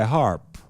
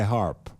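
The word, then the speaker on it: HAARP: was Hurricane Harvey and Hurricane Irma created by HARP? Now, some of you may not be aware of what HARP is. It's spelled H-A-A-R-P, H-A-A-R-P.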